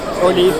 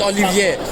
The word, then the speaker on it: Olive: What's the correct pronunciation for the name? Olive. Olive? Olive. Olive. Olive. Olive. Not Olivier.